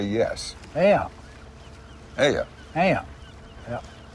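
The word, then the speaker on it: ayuh: Aya. Yeah. Yeah. How do you spell it? A-Y-U-H. Aya.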